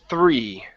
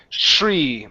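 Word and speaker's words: three: Use your tongue between your teeth. 3.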